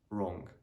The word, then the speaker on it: wrong: yeah so that's a w is normally silent when it comes before letter r at the beginning of the word so for example right right wrong ring rap rack wrestle wrestle yeah also normally let's uh